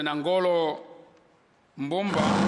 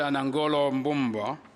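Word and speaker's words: Nangolo Mbumba: of Lesotho your Excellency Dr nangolo Bomba that's not how you pronounce his name that's not how you pronounce his name his name is uh Dr anangoloomba he's the vice president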